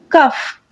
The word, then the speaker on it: cough: And here I am having the last word, that is cough, khansi karna. Cough, khansi karna. The word is cough. Here G is silent. We will give G the sound of F.